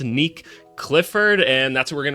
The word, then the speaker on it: Nique Clifford: It is pronounced Nick Clifford and that's what we're going to be breaking down today.